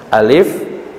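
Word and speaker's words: alif lam mim: huruf mukhoto'ah yakoba mukhoto'ah huruf yang dibacanya terputus-putus Jangan dibaca satu kata alamat enggak begitu tapi dibaca sesuai hurufnya Alif dibaca alif lam dibaca Lam Mim dibaca Meme cara bacanya sesuai dengan hurufnya alif.lam.mim dan Eh ini disebut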